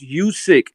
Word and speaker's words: Usyk: because using names listen usyk's name is pronounced you sick and what is happening